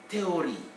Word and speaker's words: théorie: In French, H is never pronounced. So if I write theory in French, don't even consider that H, just say théorie.